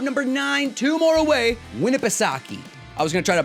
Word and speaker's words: Winnipesaukee: i looked it up i looked up how to pronounce it and winnipesaki lake winnipesaukee um now